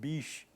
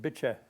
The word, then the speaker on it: Bitche: It was Bitche. And the French probably pronounce it biche, but I heard the locals pronouncing it, they called it Bitche.